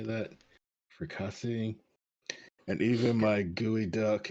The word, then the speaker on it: fricassee: Fricassee, and even my gooey duck and cream sorbet, my dishes were the talk of the town.